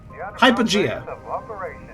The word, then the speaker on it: Hypogea: Hypogea.